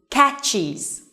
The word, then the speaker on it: catches: So this verb has one syllable, but when we add es, it turns into two, okay? So now it has two syllables. Catch, catches, okay? Catch, catches. Remember, z, is, all right?